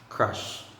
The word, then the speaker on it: crush: It's what's being called the schwa sound. Schwa sound is a relaxed sound. So it means that you don't really have to emphasize the sound that much. And when you pronounce it, just have to relax and then say crush, crush.